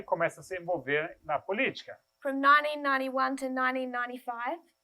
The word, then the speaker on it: política: How would you spell politics? P-O-L-I-T-I-C-A with an accent on the first I.